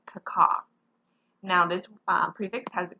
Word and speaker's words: caco: Our prefix is the prefix C-A-C-O. In words, it's pronounced caca, okay? So it might look like caco or something like that, but in words, we're going to pronounce it caca.